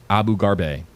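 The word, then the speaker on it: Abu Gharbie: Last name, Abu Garbe. Spelled A B U G H A R B I E. H.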